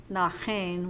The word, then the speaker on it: Naaxein: Nachen, which is how you say it in Tlingit, is fringe about the body, according to Evans.